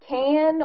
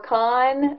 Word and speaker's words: Caan: Moving on along the list here, James Caan, or Caan, it's spelled C-A-A-N, did a really great job, though.